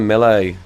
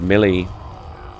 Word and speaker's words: melee: I want to melee one of them. A to melee. 2 bottles. Melee. I used to pronounce it Millie. Apparently you can pronounce it both ways, apparently.